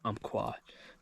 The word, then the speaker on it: Umpqua: That's how you say it, Umpqua.